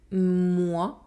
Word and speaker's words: moi: - The sound The letters “OI” are pronounced . Moi Me Let’s practice together: